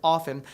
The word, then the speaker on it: often: bit like tomato tomato if you're caught pronouncing the t in the word often someone might look at you funny but you won't be